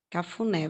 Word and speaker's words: cafuné: fazer um exemplo aqui a palavra cafuné é a sílaba mais forte vamos ver onde que tá aqui eu voltar cafuné Vamos separar aqui essa essa palavra Eu amo ver e a carro né as sílabas mais a sílaba forte é o né E ela está na última sílaba Então por aqui a